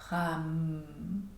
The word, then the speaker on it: ram: Donc la première partie, ra, est plus courte que le m. Donc on prononcerait ram.